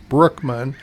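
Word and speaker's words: Bruckman: That's how you pronounce it. Brookman.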